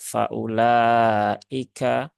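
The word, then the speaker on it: فأولئك: Nah, jadi bukan waumat. Begitu, jadi cukup dibaca faulaika ya.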